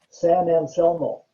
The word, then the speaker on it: San Anselmo: San Anselmo. Aha. Yeah, see, my eyes are getting bad too. Yeah. How do you say that again? San Anselmo.